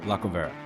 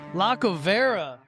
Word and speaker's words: Lacovara: With, you're gonna have to pronounce your last name. Lacovara. Lacovara.